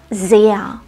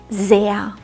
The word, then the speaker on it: sehr: diesen Satz korrekt aus das Wort sehr enthält einen langen Vokal und das R am Ende wird nicht ausgesprochen sehr sehr dieser laut ganz am Ende klingt wie ein schwaches a sehr wie man übrigens das